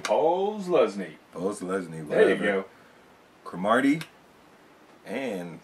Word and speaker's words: Posluszny: Plasnewski. I can't say his name. Posluszny.